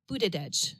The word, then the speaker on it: Buttigieg: Oh, Buttigieg. Buttigieg. It's okay, it's because different. It looks more like butt something. I know. Yeah, just Buttigieg is his last name.